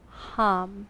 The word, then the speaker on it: ham: with each inhale ever so gently repeat the syllable hum h a m hum and every exhale repeat